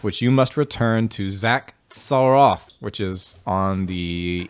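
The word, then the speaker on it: Xak: you must return to zach saroth which is on the east of the map zach for short there it's spelled x-a-k gotta return to zac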